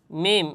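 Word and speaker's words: ميم: মিম। আর মিম হরফের উচ্চারণের স্থান হচ্ছে দুই ঠোট।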